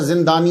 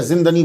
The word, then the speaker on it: زندنی: رہا ہوں۔ تو زندنی، اس کا صحیح تلفظ جو ہے وہ زندنی ہے، زندنی نہیں ہے، اکثر زندانی یا زندنی بولتے ہیں، یہ زندنی ہے۔ ویسے زندنا سے اس